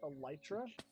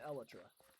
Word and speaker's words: elytra: I mean like everyone everyone pronounces it wrong. Like entomologist is that the people who do insects? Yeah. Like entomologist would look at this and be like, "Oh, it's it's an elitra."